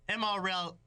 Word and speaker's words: Amarillo: And Amarillo, and L is silent. It's Amarillo.